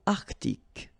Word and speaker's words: Arctique: L'océan Indien, l'océan Arctique, remember, tic, ic, la mer du Nord,